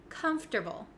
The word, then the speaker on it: comfortable: a little bit tricky there are some extra letters in there that we don't really pronounce and we switch around some of the letters and we take out some letters it's very strange so this word is pronounced comfortable comfortable comfortable now a lot of my students like to say comfortable comfortable and that sounds a little bit clunky and not really correct so even though it